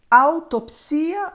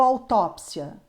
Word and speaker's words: autópsia: dizer seja bem-vindo bem-vindo biopcia ou biópsia altopcia ou autópsia necropsia ou necropsia o Volp registra todas as formas todas essas formas estão corretas você pode escolher se você usa biópsia ou biópsia e o particularmente prefiro biópsia autópsia necropsia Lembrando que existe